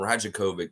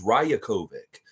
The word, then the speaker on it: Rajakovic: why it's called him rajakovic but it's a of course Serbian name so the J is always pronounced with a Y so his name's rayokovic so I want to